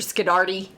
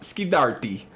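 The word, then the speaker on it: Scorsese: Sceddarti. Hey, it's pronounced Skardi.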